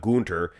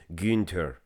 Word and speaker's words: Günther: Gunther, it's not Gunter, it's Günther. Günther.